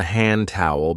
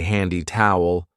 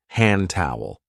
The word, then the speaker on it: hand towel: This is called a hand towel because we use it to dry our hands. And be careful of the pronunciation. We don't usually say handy towel. We link it and we say hand towel.